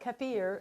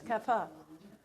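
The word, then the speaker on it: kaffir: can we spell that k-a-f-f-i-r but it's not the i-r isn't really pronounced usually is it it's not kefir it's kapha and it's a lime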